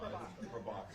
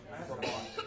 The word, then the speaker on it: Prabhakar: Prabhakar. So it's not Indian with Latin finishing. Indians like how I say my name. You should say it however you want. You're putting stress on the second. Prabhakar.